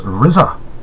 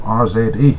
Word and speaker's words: RZA: Oh, RZA is pronounced RZA, not RZA, mate.